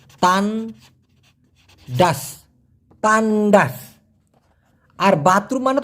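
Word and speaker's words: tandas: টি এন ডি এ এস উচ্চারণটা হবে তান ডাস।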